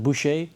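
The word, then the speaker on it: Bucher: And there were so many comments um of people saying, "Why don't you test out a Bush guitar? Do you pronounce it Bush Boucher?"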